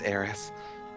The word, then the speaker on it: Aerith: It's pronounced Aerith.